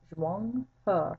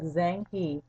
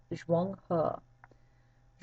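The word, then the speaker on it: Zheng He: Well, Zhuang He, and that's how you pronounce his name, Zhuang He. It looks like Zhang He. It's pronounced Zhuang He.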